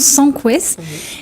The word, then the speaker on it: Sancouez: parle avec Itema sans Quest ça se prononce sans Quest et Eddie à miel le S se prononce